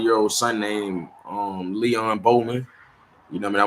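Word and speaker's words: Leon Bowling: not really understand um how I'm pronouncing the name. L E O N B O W L I N G, you know, I mean, Leon Bolan, you know, I mean,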